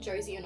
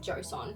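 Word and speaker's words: Joseon: I literally said it like Josian or something, but it is pronounced I believe beauty of Josson.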